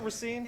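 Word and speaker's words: Racine: adventure to rine Wisconsin did I say it right is it rine it's rine okay it's rine we didn't say it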